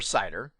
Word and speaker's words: CIDR: to go to class lists inter-domain routing or cider with variable-length subnet mask vlsm now here I